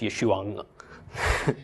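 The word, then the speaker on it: ישוע: So it's Yeshua, except I'm belaboring it a little bit.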